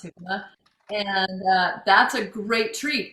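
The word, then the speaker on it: jícama: It's spelled Jicama, jicama. But in Spanish it's pronounced jicama.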